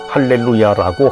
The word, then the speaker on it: 알렐루야: 개신교에서는 히브리어 그대로 할렐루야라고 하나 당시 그리스어 알렐루야와 혼동해서 사용되었고 라틴어로도 알렐루야로 발음하므로 가톨릭에서는 알렐루야로 사용하고 있다.